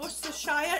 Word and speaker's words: Worcestershire: Worcestershire sauce. Not Worcestershire or Worcestershire, it's Worcestershire.